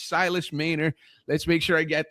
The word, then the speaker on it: Mähner: And Silus Mayor is one of those types of guests.